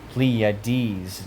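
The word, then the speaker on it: Pleiades: The bands of Orion he looth and bindeth the sweet influences of the pleades pleades. That's how it's pronounced.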